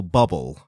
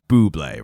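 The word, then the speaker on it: Bublé: and she said oh I heard that new song from that Michael bubble yeah and he was like you know it's you know it's Buble right and she goes oh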